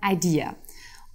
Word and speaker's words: AiDiA: IDEA wird ausgesprochen das englische Idea, also die Idee.